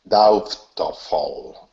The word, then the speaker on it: doubtful: so the word was doubtful d fall d fall good good so remember there's no B it looks like BT but the B is